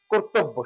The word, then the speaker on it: কর্তব্য: আছে এটা কর অর্থাৎ ব এর সাথে জফলা আছে বটা দুইবার হবে কর্তব্য সঠিক উচ্চারণ হচ্ছে কিবে